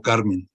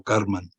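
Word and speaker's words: Kármán: Y la otra C es de Karman, el segundo investigador, Karman, no Carmen, sino Karman.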